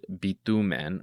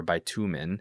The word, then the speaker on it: bitumen: And refers to the word bitumen or bitumen, which is pitch or tar, the substance that